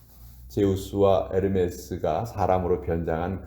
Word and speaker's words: 에르메스: 에르메스. 그 에르메스가 사실은 H가 묵음이에요.